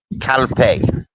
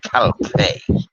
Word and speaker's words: Calpe: Okay, so if I'm 12 kilometers away from Calpe, okay, Calp, 12 kilometers away from Calpe. Yeah, that's how it's pronounced.